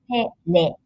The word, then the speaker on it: テレビ: We use R, but in Japanese we pronounce this like L in English. So this is telebi.